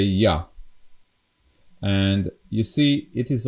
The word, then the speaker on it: ja: it's written differently, but we don't pronounce this J as J, like in English, but we always pronounce it as Y. So that's the difference. This is Y. So Y and A together, it's Ja.